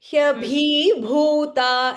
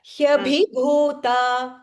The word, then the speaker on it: ह्यभिभूता: Hyabhi, நீங்க pronounce பண்ணும்போது you are saying hyabhi bhuta instead of that hyabhi bhuta. ह्यभि भूता वनौकसः The B say it short.